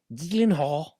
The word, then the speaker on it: Gyllenhaal: It's like Gyllenhaal. Oh, absolutely. Is it because it's from like some other country? So it's like Gyllenhaal.